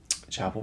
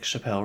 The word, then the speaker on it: Chappell: do you guys like Chappelle Roan? Me and my other friend are like, you mean Chapel? He's like, well, it's spelled Chappelle. I'm like, well, it's not. It's Chapel.